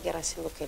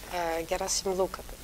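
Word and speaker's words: Gherasim Luca: Moi, Gerasim Luca, je le prononce toujours à la roumaine, je le prends par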